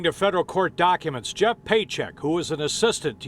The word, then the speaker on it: Pietrzyk: Jim yeah Dave this guy's name is Jeff paycheck that's how it's pronounced within the Union he's charged with money